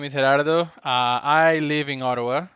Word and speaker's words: Gerardo: So, yeah, as you said, my name is Herardo.